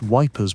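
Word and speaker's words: Ypres: produced by British soldiers in the ruins of Eupris, Belgium. Pronounced Wipers by the troops.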